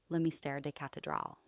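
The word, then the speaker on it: Le Mystère des Cathédrales: 1926 edition of The Mystery of the Cathedrals, pronounced as Le Mystère des Cathedrals.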